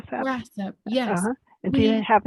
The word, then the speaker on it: WRASAP: What is the best way to stay current with news from, and is it pronounced RASAP? RASAP, yes.